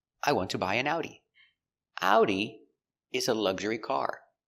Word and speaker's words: Audi: We pronounce it with the German pronunciation similar to German. Audi. Let's take a closer look at the pronunciation pronunciation of audi. Ow. Ow. Remember the sound is two sounds. It's a like apple and oo like boot together.